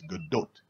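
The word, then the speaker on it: Gadot: do it nope a misconception first people thought it was good do then it was uh uh uh corrected quote unquote as the do by I think it was Jimmy Kimmel she herself actually pronounced it correctly it's good do her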